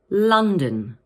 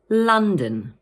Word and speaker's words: London: And in the second part of the word, the O is pronounced as a schwa, like this, dun. So in full, we say London. Let's say that again. London.